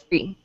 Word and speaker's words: three: it's spelled all right anytime you have a th free your tongue come out of your mouth three okay all right very